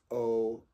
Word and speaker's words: Eau: it's it's pronounced o like you like saying the letter O you just say o